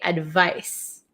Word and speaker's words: advice: piece of advice okay advice then here we have advise advise so it's so tricky right advice has an S sound but it's spelled with a c advise has a z